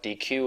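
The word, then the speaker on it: deque: We talk about deq objects, so you can call it DQ or D, but if you read the Python official documentation, it's pronounced deq, and that allows you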